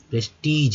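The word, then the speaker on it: prestige: हो गया TIGE, तो प्रेस्टीज, यहाँ जी जो है ज के रूप में उच्चारित हुआ, ग के रूप में नहीं, तो प्रेस्टीज यानी सम्मान।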